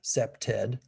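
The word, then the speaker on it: CPTED: It's pronounced like that, SEPTED.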